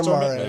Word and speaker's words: Stormare: just want to call out how good Peter Stormare, is that what you said? Peter Stormare.